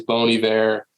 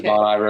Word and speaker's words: Bon Iver: you know Bon Iver the correct way to say it is bony there everybody says Bon Iver and people are like